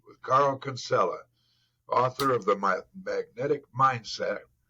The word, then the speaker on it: Kinsella: Look, if people in Ireland would pronounce it Kinsella, we say Kinsella here in Australia, so yeah, it's close enough.